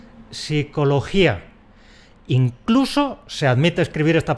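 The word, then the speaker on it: psicología: Pero para unos órganos fonadores hispánicos es prácticamente imposible decir eso sin perder la dentadura. De ahí que pronunciemos .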